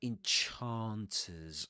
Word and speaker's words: enchanters: The enchanters. I love that pronunciation. Look at the ah, the long ah sound in enchanters, the same you'll find in words like star or car.